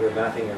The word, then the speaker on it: Ermatinger: Now, I've heard that there's different pronunciations of his name, but people in the Hudson's Bay Archives, where we used to go to get old documents in, they're now in Winnipeg, they called it Ermatinger, but he came here